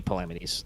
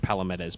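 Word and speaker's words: Palamedes: asshats it is yeah it's supposed to be palamities the short version i've always heard it like palomettas but it's yeah it's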